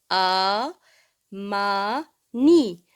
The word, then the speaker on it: Amani: Ce mot, il se prononce A. Ma. Ni.